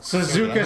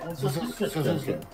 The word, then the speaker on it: Suzuka: Suzuka Circuit! Suzuka. It's Suzuka. How do you pronounce it?